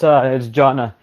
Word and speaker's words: Jonah: Jonah, or in Spanish, how we say Jonah. Let me know if I'm saying it right, bro. Yeah, it's Jonna. Well, it's actually my name